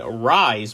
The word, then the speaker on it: Ryse: They are the Rise brand, which is spelled RYSE.